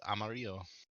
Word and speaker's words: Amarillo: We say things like Amarillo. When it's in Spanish, it's Amarillo. What?